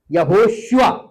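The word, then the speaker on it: יהושע: यहोशू अगर आप हिब्रू में देखें तो उसको बोलते थे यशुआ, यहोशुआ, ये इसका प्रोनाउंसिएशन था यहोशुआ।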